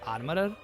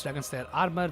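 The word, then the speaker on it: Dragonslayer Armour: I know that I mispronounced this guy's name quite often in my playthrough because I thought its name was Armorer. But nope, it's Dragon Slayer armor, which makes sense considering this is literally a living costume.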